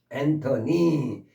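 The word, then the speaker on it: antennae: 그래서 엔터니 엔터니 엔터너스 엔터니 니로 발음해 니 이렇게 복수가 그리고 잠깐이 부분을 가르치다 보면 꼭 그런 말을 하는 학생이 있어요.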